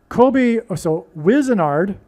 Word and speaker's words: Wizenard: So Wizenard rhymes with wizard.